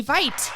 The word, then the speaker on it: Veit: to the show Vite yay and I know it's the German pronunciation of Vite vit T yes that's